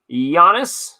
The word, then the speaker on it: Giannis: sleeved up we got Giannis made the mistake once of pronouncing the G Anthony Davis another nice